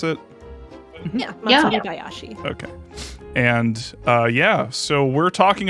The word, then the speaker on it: Matsuribayashi: Is that how you pronounce it? Yeah, Matsuribayashi.